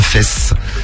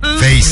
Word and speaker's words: Face: Face, hein, j'ai prononcé Fess, mais c'est Face.